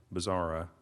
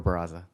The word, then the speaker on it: Barraza: I hope that I came close to pronouncing your name correctly. You did. Barraza. Barraza? Yes.